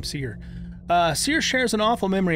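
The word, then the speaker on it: Cere: series Padawan are actually seer and that's how you pronounce her name seer seer shares an awful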